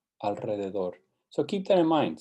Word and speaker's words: alrededor: Some things to keep in mind that sometimes when we spell it as a single R, it's actually pronounced as the trill R. That is true always at the beginning of a word. Ricardo, Costa Rica. It's also after the letter N, Enrique, and after the letter L, alrededor.